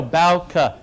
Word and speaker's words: Bouke: Bouke. Yeah. See? It's written. I would have pronounced it Bouke. No, Bouke.